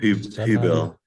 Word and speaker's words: Huebel: I'm not sure how you pronounce that. I should have asked you much earlier, Steve. Huebel.